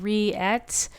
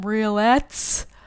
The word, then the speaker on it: rillettes: spell this word because i'm saying re-at but it's actually it's a french word it's spelled r-i-l-l-e-t-t-e-s so i'll tell you the first time i said it out loud i said hey i'm making some roulettes that was wrong don't do that anyway